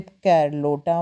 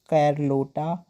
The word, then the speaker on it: Carlotta: And quickly began a relationship with कैरलोटा मॉन्टेरे whom he married in 1929।